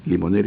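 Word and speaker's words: Limonaire: Limoner es esa ese instrumento que hay que darle el organito se llama limonero. Se escribe limon aire.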